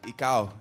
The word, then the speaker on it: ikaw: don't say it right ik whenever I make music my friends with me are always You're not saying the w correct you're not saying the